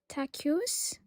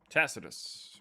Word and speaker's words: Tacitus: So I I don't know how to pronounce his name so I'm just going to write in the chat. His name is Tacuse Tacitus.